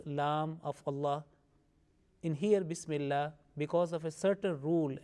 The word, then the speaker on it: Bismillah: Now, Bismillah, this lam of Allah, in here Bismillah, because of a certain rule and condition, it will be pronounced with thin sound, Bismillah.